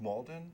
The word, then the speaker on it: Malden: really good job um Zach your last name is pronounced Malden yeah oh well welcome